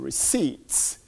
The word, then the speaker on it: receipt: a correct spelling on receipt it has a silent T I suppose there that caused the discombobulation receipt is our a